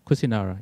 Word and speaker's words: Kusinara: Kusinara, yeah. That's probably the Pali pronunciation. Yeah, this is a Pali pronunciation.